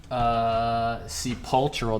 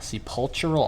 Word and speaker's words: sepulchral: There needs to be a K in there.